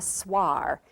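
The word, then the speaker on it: Swaar: least make a beginning this is called a swar and it is spelled s w a a r and it's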